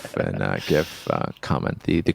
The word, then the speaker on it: GIF: around how to pronounce GIF um Steve in 1987 Steve willite releases the graphics interchange format or GIF while working for comp serve he called it a gif with a soft G choosy developers he reportedly